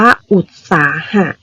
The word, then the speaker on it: อุตสาหะ: นี้ ค่ะ อุตสาหะ คะ อ่าน ว่า อุตสาหะ อ่าน ว่า อุด นะ คะ เวลา เขียน คำ